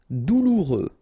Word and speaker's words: douloureux: Douloureux. Remember, final X not pronounced, so you get this OU together. Ou, douloureux. Douloureux.